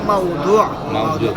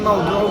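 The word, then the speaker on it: موضوع: আর উচ্চারণ তো আপনি পারেন, এই যে শব্দটা মূলত মাউদু, আর এটা উচ্চারণে মাউজু, মানে ভুল প্রসিদ্ধ হয়ে গেছে। আপনি মাউদু বলবেন।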